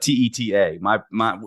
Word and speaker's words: Teta: The correct pronunciation is Teta. Obviously Italian. The problem is that means tit in Spanish. And so I think we pronounce it Tita because I think my